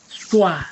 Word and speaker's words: schwa: Other song is called schwa.